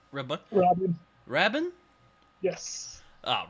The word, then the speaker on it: Rabin: Is that how it's pronounced? Rabin? Rabin. Rabin? Yes. Ah, Rabin.